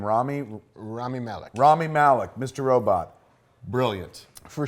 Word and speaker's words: Rami Malek: Rami Malek.